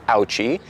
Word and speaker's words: Ouchy: So yes, it is pronounced, in fact, Ouchy.